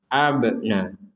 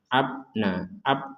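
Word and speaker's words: أبناء: Sini dipantulkan, kemudian ini panjang. Abna. Jangan sampai abna. Ini kurang, harus ada pentalan.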